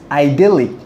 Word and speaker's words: idyllic: can say it sounds idyllic. Well, it sounds idyllic or idyllic. I think most of you are not familiar with this word called idyllic or idyllic. British people pronounce it as idyllic, and the American people pronounce it as idyllic.